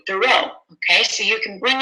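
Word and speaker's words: Thoreau: weeks remind them remember it's not Henry David thorough it's Henry David tho okay so you can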